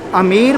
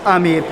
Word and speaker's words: Amer: आमेर या आमेर चीज़ दोनों एक ही है। ब्रिटिशर्स जब आए तो ये B word become silent, so sound comes आमेर also, आमेर also.